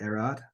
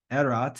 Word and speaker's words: erat: very good Henry James wrote not erad I don't know what that means erot is the right answer um then we've got